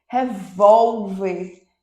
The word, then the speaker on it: revólver: é uma palavra paroxítona outro exemplo revólver revólver revólver revólver penúltima sílabas Tá certo gente é a sílaba mais forte Então ela é paroxítona tá certo é engraçado